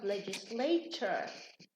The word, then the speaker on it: legislature: Now legislate. When we have here legislate ends in a T, so it becomes legislature, like lecture as well.